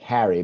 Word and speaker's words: Herre: So it's pronounced like Harry, but it's Herre.